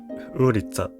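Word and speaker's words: улица: ローマ字に変換するとこのようになり、ウーリッツァと発音します。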